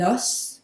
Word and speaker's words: os: And this one, also interesting, in the singular you pronounce the S, un os, a bone, un os. In the plural you don't, des os, des os.